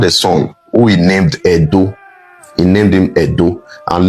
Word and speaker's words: Edo: It was the Edo people. Wherever you hear Ado or Yoruba people pronouncing Ado, they are still referring to Benin. They are referring to Edo. That's how they pronounce Edo.